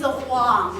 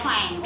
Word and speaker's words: Huang: It's not ang, but on, right? So put this U together and ang together, that's Wang, right? And then we still have the H sound, that's why the name is Huang, not Huang, okay?